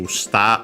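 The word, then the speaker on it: 舌: This one is another one, still a strictly Japanese word, shita, accented on the last mora, so potentially related to shita of tongue, and would make sense in a way.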